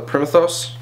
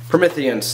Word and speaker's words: Prometheans: the new enemy it's called the promethos I probably said it wrong Prometheans there we go the